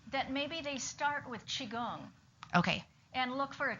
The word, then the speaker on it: Qigong: Qigong. Qigong is spelled two different ways because of the two different phonetic systems that they have in China.